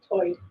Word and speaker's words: tide: One interesting feature is that Lumbi English speakers share vowel sounds present in the Outer Banks accent where Tide is pronounced toid.